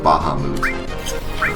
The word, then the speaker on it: Bahamut: is is only beaten by baham zero or Bahamut you prefer I can't get myself to say